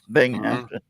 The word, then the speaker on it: Binghamton: I said it like two different words. Binghamton. Yeah. You said it all together.